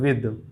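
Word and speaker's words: with: This, इसे कुछ लोग विथ पढ़ते हैं, इस विथ नहीं, इसे कुछ लोग ऐसे प्रोनाउंस करते हैं विथ, इसे हम ये प्रोनाउंस करते हैं विद, ठीक है।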